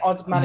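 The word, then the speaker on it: Osmanagić: So this is Osmanagic, is that right? Is that how I pronounce it? Yeah, Dr. Osmanagic.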